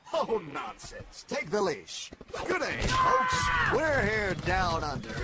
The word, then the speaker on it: G'day: No, it's good day. Like duh. You pronounce the duh sound.